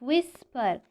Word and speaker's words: whisper: and very softly whisper we pronounce the letter w but we don't pronounce the letter h because it is silent it is silent whisper yes can you see